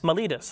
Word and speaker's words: Miletus: Miletus, okay.